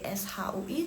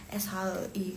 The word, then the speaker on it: 谁: Nanti lo bilang pinginnya SHEI, terus nanti ada yang baca 谁 SHUI, terus kalian jadi bingung loh. Ini lo bilangnya SHEI. Kenapa nih orang yang itu yang native speaker, maksudnya yang pro sama Mandarin, kenapa mereka bacanya 谁? Itu karena itu sama aja, cuman karena perbedaan di negara yang memakainya aja.